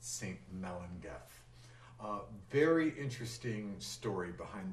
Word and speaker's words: Melangell: story to it it's called saint melendez and that's spelled m-e-l-a-n-g-e-l-l it looks like it would be pronounced saint melangel but in the welsh pronunciation would be pronounced saint melinda a very interesting story behind this piece of